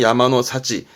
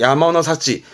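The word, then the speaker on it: 山の幸: 이때 발음이 좀 특이한데요. 발음은 야마노 사치입니다. 발음이 야마노 사치. 산의 행복이 아니고 행운스럽게도 산에서 얻은 거, 그러니까 산에서 채취한 뭐 나물이라든가 그런 열매라든가 그런 것들을 야마노 사치, 바다에서 얻은 거는 우미노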